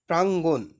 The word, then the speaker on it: প্রাঙ্গণ: number 23 number বলছে প্রাঙ্গণ শব্দের সঠিক উচ্চারণ কোনটি এটার সঠিক উচ্চারণ হচ্ছে প্রাঙ্গণ ঠিক আছে এরপরে দেখো